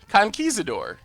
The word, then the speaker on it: conquistador: we go no attack the the T is silent conquistador alright peso turn and